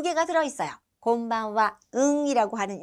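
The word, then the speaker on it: こんばんは: 그 다음에 맨 끝에는 와라고 발음하는 하라는 음절이 왔는데 요 와로 발음되는 그 앞에 있는 응은 이응처럼 발음이 돼요. 그래서 곤방와 곤방와 이렇게 발음이 됩니다. 자, 별로 많이 어렵지는 않은데 그래도 혹시나 해서 응 발음 어떻게 곤방와예요?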